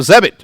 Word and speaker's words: Zebit: We have Zebit, rhymes with debit, who believes that everyone deserves access to lifelong interest-free credit.